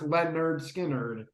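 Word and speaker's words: Lynyrd Skynyrd: Leonard Skinner, pronounced Leonard Skinner, and Second Helping.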